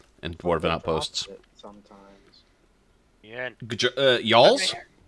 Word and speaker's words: jarl: Yarls? I did look up the pronunciation of it, by the way, and it's pronounced Yarl.